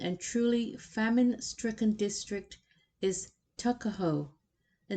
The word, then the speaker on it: Tuckahoe: Eastern Shore men usually pronounce the word took as tuck. Tuckahoe, therefore, is, in Maryland parlance, Tuckahoe.